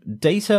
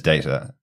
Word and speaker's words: Data: and he said well one's my name my name is data the other word is data and that's just how you pronounce that term effectively so it has